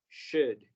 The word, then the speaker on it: should: pronunciar nada más como should, should. Can you repeat should? Should. Should, very good, sin la L vamos a hacer como que no existe, should.